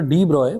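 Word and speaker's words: de Broglie: जरा देखिएगा Louis Victor डी ब्रॉय pronounced as डीब्रॉय put forward the bold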